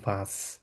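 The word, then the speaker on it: was: আর চৈতি আপু, আপনার ক্ষেত্রে যে জিনিসটা করতে হবে, আপনি ওয়াজ বলবেন না, এটাকে বলবো ভাস। কারণ ডাব্লিউ কে কি বলি আমরা, ভে উচ্চারণ করি না, ওই জন্য বলবো ভাস।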